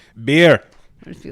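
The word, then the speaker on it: Bier: I just do the beer. I just be like, you know how you say beer in German? Beer. Beer. But it's spelled B I E R.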